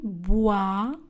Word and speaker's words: boit: Elle boit. Le T est une lettre muette. Du chocolat. Le T est une lettre muette. Chaud. Le D ne sera pas prononcé. Elle boit du chocolat chaud.